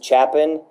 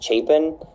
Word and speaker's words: Chapin: Everybody mispronounces my last name as Chapin, but my last name is Chapin.